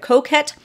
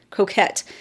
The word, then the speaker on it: coquette: Oh, I loved this lipstick, the Lime Crime shade in Coquette. I still don't know to this day if I'm saying it right. Croquette, but it's not croquet, Coquette.